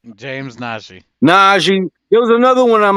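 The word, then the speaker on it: Nnaji: I'm mispronouncing his Najee, name. Excuse me. Angie, James Najee. Najee.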